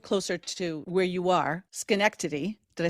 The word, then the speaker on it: Schenectady: I wish I lived closer to where you are, Schenectady. Did I say that correctly? Schenectady.